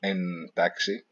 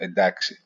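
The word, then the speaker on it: εντάξει: It's also interesting to note that "entaxi" now is pronounced as "d." It's not pronounced "entaxi." It's pronounced "edaxi."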